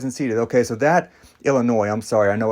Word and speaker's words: Illinois: Okay, so that, Illinois, I'm sorry, I know I like to pronounce the S. I know it's not how it's pronounced.